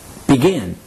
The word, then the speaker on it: begin: repeat after me decide the verb begin for example is pronounced begin begin repeat after me begin now let's pull all